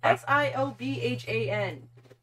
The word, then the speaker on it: Siobhan: Do you know how that name is spelled? S-I-O-B-H-A-N.